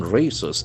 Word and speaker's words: raise: The letter s as well z sound.